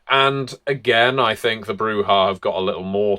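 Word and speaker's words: Brujah: So we move on to the Brewha in alphabetical order, or Brewja. I know, technically the Spanish pronunciation would be Brewha.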